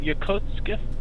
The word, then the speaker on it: Yokosuka: It's called Yokosuka. It's hard to pronounce because there's a distinguishment between the K, the T and the K, because it's TSU, Su-ka, but it's pronounced quickly. So in the English, it sounds like Yokosuka, but it's Yokosuka. Yokosuka.